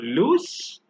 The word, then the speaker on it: loose: loose versus loose remember where we add double O we pronounce the S as s but where we write the single o we actually pronounce the S as Zed so loose versus loose the one